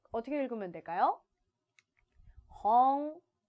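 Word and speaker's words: 本: 홍. 자, 우리 항상 응 부분으로 끝나면 얘는 이응받침에 가깝게 발음하는 것이 가장 예쁩니다. 했죠. 자, 그래서 혼이 아니라 홍 홍이라고 하시면 됩니다.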